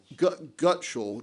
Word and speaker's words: Gutshall: And your name for the record is, you told me earlier, is Gutschall. That's, for the record, is spelled Gutshall, Gutschall.